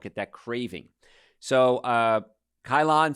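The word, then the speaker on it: Ceylon: that craving so uh kylon see what see well i guess that's how you say it c-e-y-l-o-n uh that's the one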